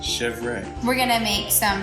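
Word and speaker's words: chèvre: make goat cheese and this goat cheese is pronounced chevre we're going to make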